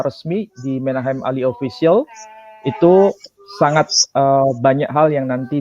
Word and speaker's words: itoe: Tapi kalau ejaan Van Ophuijsen itu misalnya itu ditulis I-T-O-E. Tapi tidak dibaca itoe, tapi dibaca itu.